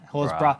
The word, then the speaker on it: Horsburgh: And with Corey Horsburgh, or how Horsbra, it's not spelled like that. Yeah. It's Horsburgh. It's bra.